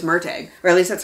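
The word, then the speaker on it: Murtagh: did not read merg I thought it was pronounced MTO cuz I thought there was an extra letter in there but no it's mteg or at least that's how they pronounce it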